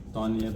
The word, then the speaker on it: Tonye: because if you say Tonye, that is my name. But if you say Tonye, that is a different name. Tonye. I see it as Tonye, and that is how it's supposed to be pronounced.